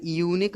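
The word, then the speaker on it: unique: और जैसे यूनिक book, इसमें भी क्या है कि या की आवाज़ आ रही है, इस वजह से हमने ए का यूज़ किया है।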